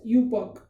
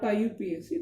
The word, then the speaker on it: IUPAC: Okay, so you have to pronunciate this as UPOC, not IUPAC. This is pronunciated as UPOC.